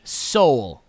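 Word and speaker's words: Soal: it's very celebrated s.g soul his name is spelled like coal but it sounds like soul SG soul okay I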